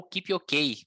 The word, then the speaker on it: Kipyogei: Então vamos lá, no feminino, a Diana Kipyogei, ou Kipyokei, como ela disse que prefere a pronúncia do nome dela depois da prova, ganhou a prova, ela